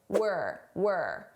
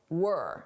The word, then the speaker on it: we're: Notice the contraction, were. This is we are as a contraction, were. Now, notice how unstressed my pronunciation is. It sounds like were, not we're, were. This is how native speakers say it at a natural pace.